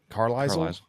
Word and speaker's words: Carlisle: With an S. What did I say? Carlisle. Yeah, but the S is silent.